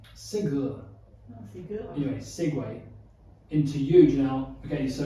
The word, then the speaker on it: segue: point, do you know how the word segue in that context is spelled? I discovered this recently. No. Because I thought it was like the Segway that you ride, right? Yeah, I would assume so. Segway. Mm-hmm. It's actually spelled Segue.